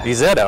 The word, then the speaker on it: Isetta: And thank you for the use of the What's the pronunciation? Isetta. Isetta.